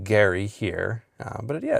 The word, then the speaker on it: Gerry: uh residents of his hometown, it was he pronounced his name Gary. Um the Massachusetts Historical Society who uh has c custody over the Adams letters. U their guidance is to pronounce his name Gary.